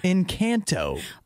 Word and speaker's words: Encanto: say it like that what do you mean that's how it's pronounced it's the name of the movie in kanto uh you can also